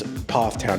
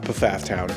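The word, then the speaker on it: Pfafftown: pronouncing it correctly but from what I've hear other people say it's PFF Town not paaf town and the reason I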